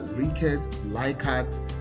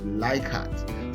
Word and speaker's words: Likert: Some people call it Likert. So whatever you call it, whether Likert, I call it Likert.